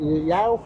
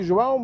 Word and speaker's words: João: Okay, how do you say? Yao? Yeah, normally João, but make it more simple.